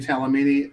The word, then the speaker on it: Talamini: My name is Talamini.